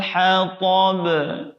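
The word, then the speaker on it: حطب: Yang terakhir di kata hatab juga qalqalah sama dengan di ayat-ayat sebelumnya. Oke, saya ulangi. Wamra'atuhu hammalatal hatab.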